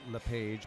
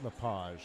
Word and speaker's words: Lepage: She does go by Lepage, but if you ask her father, he prefers Lepage.